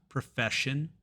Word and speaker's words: profession: We have profession, shin, and version, jin.